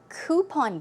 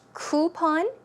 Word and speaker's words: coupon: They're fashion catalogs, so you can browse through fashion catalogs or also coupon books. Now, this word is actually pronounced 2 ways. It can be pronounced coupon, ooh, or coupon, coupon.